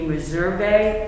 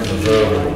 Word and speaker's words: Meservey: But they would like to present the names of Joshua, and I believe the pronunciation would be Meservey, M-E-S-E-R-V-E-Y. M-E-F? M-E-S-E-R-V-Y. For a full-time corrections officer. Full-time? Joshua? Yes. M-E-S-E-R-V-E-Y. Like Meservey, Y.